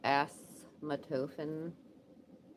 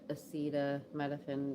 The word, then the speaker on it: acetaminophen: You know, I used to call it asthmatophene. I'm like, what the fuck is that asthmatophene? So I just like to call it acetaminophen because now I say it properly.